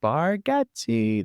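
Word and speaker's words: Bargatze: boat as me have you watched the Nate brigatti burgatti Nate baratti that's how you pronounce it that's how his daughter did the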